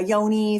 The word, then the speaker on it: Yoni: or the expanded orgasm practice the uh a Yoni for those of you who are here with